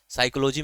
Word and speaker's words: psychology: वो साइलेंट होता है इसलिए इसमें साइकोलॉजी में पी साइलेंट होता है आपका यह ग्रीक